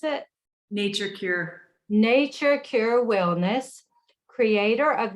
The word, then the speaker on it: Nature Cure: She's the founder and CEO of Natura Cure. Is that how you pronounce it? Nature Cure.